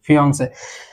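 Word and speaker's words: fiancé: এবং হবু বরকে আমরা বলছি FIANCE, ফিয়ন্সে। উচ্চারণ দুটি সিমিলার হবে, বাট এখানে একটা জিনিস খেয়াল রাখবেন, হবু বউয়ের ক্ষেত্রে ডাবল ই হয়েছে এবং হবু বরের ক্ষেত্রে শুধু ই হয়েছে, ফিয়ন্সে, হবু বর বা হবু বউ।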